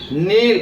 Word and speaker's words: kneel: இப்போ KNEEL அப்படிங்கிற word எப்படி இருக்கணும்? நீல் அப்படின்னு சொல்லி ப்ரொனவுன்ஸ் பண்ணணும். அடுத்து BECAME அப்படிங்கிற வேர்டு எப்படி பண்ணணும்?